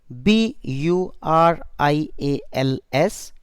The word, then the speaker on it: burials: word burials because in writing it is written b u r i a l s burials but in speaking its pronunciation is burials refers to a place where